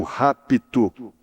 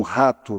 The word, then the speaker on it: rapto: Não é o rapto, é um p mudo aí, mas que tem que ser pronunciado.